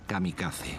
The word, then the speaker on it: kamikaze: llamaron el viento divino que en japonés se pronuncia kamikaze ese sería el grito